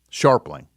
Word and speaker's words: Scharpling: do I have that right stink no um sharpling oh oh yes okay I I mispronounce that okay uh Tom this is detective